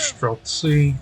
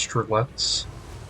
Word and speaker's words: Streltsy: Fun fact, Streltsy, or sometimes pronounced Strelets, though Streltsy is the more proper way of saying, those were a real-life